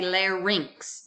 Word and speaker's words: larynx: You have a pharynx and a larynx. Remember, Y is pronounced as I, R-I-N-X. Rinx, pharynx, larynx.